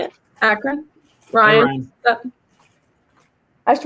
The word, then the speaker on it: Akron: Captain Akron? Is that how you're supposed to say it? Akron? Ryan? Hey, Ryan. I just wanted to see if I could say it right. Yes, it's Akron, Ohio.